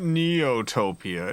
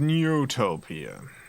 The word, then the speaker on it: Neutopia: is much more dastardly for a second I thought it was neotopia no it's not neotopia it is neutopia I I don't know